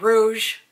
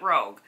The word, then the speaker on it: Rouge: if you're Sephora shopper you know it's vib Rouge not rogue she said that they're